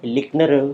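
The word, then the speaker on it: Lintner: तो उसमें N silent है, लिकनर हम कहते हैं लिकनर्स मॉडल।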